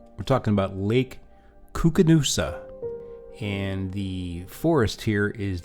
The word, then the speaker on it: Koocanusa: One, let's get the pronunciation right. We're talking about Lake Koocanusa, and the forest here is the Kootenai National Forest.